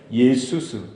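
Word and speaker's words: Ἰησοῦς: 예수스. 예수와 예수스. 그러니까 그리고를 보면요, 예수라는 그 발음이 뭐예요? 예수스. 따라합시다.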